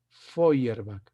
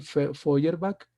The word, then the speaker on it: Feuerbach: O sea, miren, se lee Foy, así como Freud, se escribe Freud y se lee Freud, aquí también Feuerbach, EU en alemán se lee hoy. Ludwig Feuerbach, Federico Nietzsche y en la época actual Noam Chomsky.